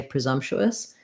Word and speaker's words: presumptuous: we're going to say presumptuous where we're going to actually use a schwa the uh sound in that first syllable because it's not stressed then our stressed syllable zom has the stress schwa letter s says